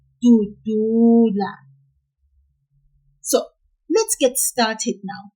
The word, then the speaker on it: dudula: For the verb dudula, which has 3 syllables and means to push in isiNgisi. In that one, we will pull the second du, just a little, like this, dudula.